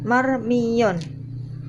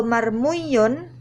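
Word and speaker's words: مرمي: Kalau marmuyun kan berat, ya mencucu, ya mecece, begitu. Nah, kalau ini sudah diganti marmiyun untuk menyelamatkan ya supaya mudah diucapkan, jadilah marmiyun.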